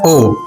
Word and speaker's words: を: It's written as wo but pronounced as o.